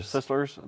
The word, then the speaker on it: Sisler's: Sisslers.